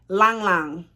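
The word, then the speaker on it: ylang-ylang: the middle notes peach rose langlang it's spelled y-l-a-n-g y-l-a-n-g just so you guys know i'm not being funny so the middle note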